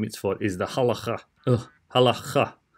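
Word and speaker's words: הלכה: So I would pronounce it halakha, but it's supposed to be halacha. It's a really hard CH in there, but different to the ch sound that English would associate with the CH.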